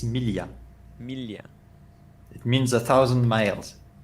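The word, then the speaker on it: Miglia: okay all right mili no you don't pronounce the g it's millia it means a thousand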